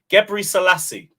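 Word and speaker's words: Gebreselassie: Gebri Selassie. That's how you say it. People usually get it wrong.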